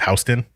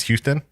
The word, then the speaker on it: Houston: so you know how in new york or on the east coast it's houston and in texas it's houston okay two different people same name different pronunciation so i could be